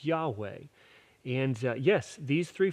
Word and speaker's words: Yahweh: And uh this name is uh we pron sometimes it's it's written Jehovah because of different language things but probably the best pronunciation is Yahweh.